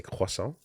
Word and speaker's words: croissant: Next time, don't embarrass yourself and pronounce it properly. It's a croissant.